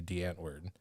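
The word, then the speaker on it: Die Antwoord: not a v there it's definitely a w but it's spelled or it's pronounced with a v whatever yeah um so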